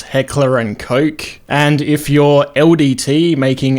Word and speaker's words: Heckler & Koch: For some reason in English it's pronounced Heckler and Koch, and if you're LDT making a Gel Blaster